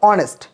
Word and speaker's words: honest: তারপর দেখো অনেস্ট, এখানে দেখো HONEST, অনেস্ট আসে হচ্ছে এইস, বাট বোঝাচ্ছে হচ্ছে অনেস্ট, উচ্চারণ করলে অনেস্ট আসতেছে।